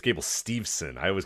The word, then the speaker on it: Steveson: will say, it's actually this is how you pronounce it. But I say Gable Stevenson for an entire show and nobody cares. But it's Steveson.